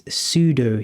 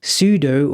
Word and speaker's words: sudo: you may notice this sudo here before the actual command. Sudo or sudo stands for super user do. It should be pronounced sudo, but sudo sounds just more powerful, so I'll stick with that.